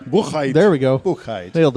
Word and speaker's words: Buchheit: I'm going to say, is it Buchheit? Yes. Just like it's spelled. Well, I mean, if you want to be all German, Buchheit. Buchheit.